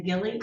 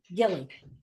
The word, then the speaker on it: Gilly: Lee, do we pronounce his last name Gilly or Gil? Yes, Gilly.